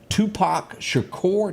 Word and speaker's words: Tupac Shakur: Tupac Shakur, did I pronounce that right?